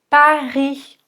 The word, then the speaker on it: Paris: Paris, on n'entend pas le S.